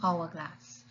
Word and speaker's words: hourglass: hourglass we say an hourglass and we say an hourglass because the h is silent so the first sound you are hearing is this sound of a vowel you are hearing we